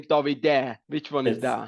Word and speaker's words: Davide: Davide.